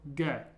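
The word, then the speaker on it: Г: next letter is and it's like an English G sound but be careful it's only ever like the G sound in the name gray for example it's never like a g sound as in giraffe it's always a g sound so gay okay the way I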